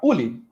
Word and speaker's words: Uli: Enquanto a Evelyn não está, Uli. Acho que é assim que a pronúncia está correta? É assim, tá correta. Oi, gente, eu chamo Uli, eu faço farmácia na UFOP.